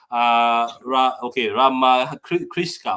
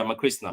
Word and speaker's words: Rama Krishna: Rama Kriska or Kriska. If I'm saying your name wrong, apologies. Big up to all of you guys for this. Is it Rama Krishna? Oh yeah, Rama Krishna.